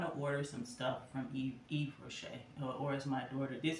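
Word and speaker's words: Yves Rocher: I want to order some stuff from Eve Rocher, or as my daughter. This is an inside joke between my daughter. I know it's pronounced Eve Rocher, but Yves Rohicker.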